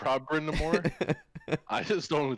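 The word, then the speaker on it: Brind'Amour: Is it Rob Brindamere? Is that how you say his name? Brindamore, thank you.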